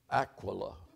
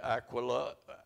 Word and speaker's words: Aquila: she was from there Aquila he Aquila later come from Italy and his wife we say Aquilla Aquilla and Priscilla every American preacher Paul met Aquilla and Priscilla it was Aquila and Prisa Aquila and